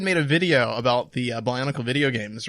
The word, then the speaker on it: Bionicle: But the entire time she's pronouncing it Bionicles. Yep. And like, she'll even say Bionicles Heroes. What a mouthful! How would you possibly? Why would you say it like that? It doesn't even sound Extra good. S is just too extra.